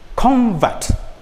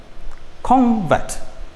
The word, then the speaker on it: convert: used as a verb the stress moves from the first syllable to the second syllable for example one we have noun and verb one we have convert convert he is a convert this is a noun this one is a